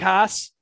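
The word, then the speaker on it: Haase: Since Detroit likes to roster 9 catchers in their lineup, I'll go with I'm gonna say his name wrong, but I don't give a shit. Eric Haas, 3.1K, hitting 5th tonight against Mike Minor.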